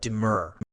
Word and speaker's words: demur: mean by the word demur. Word type. Demur can function as both a verb and a noun. As a verb, it's pronounced die. As a noun, the stress shifts to the first syllable, de-mur, meaning, as a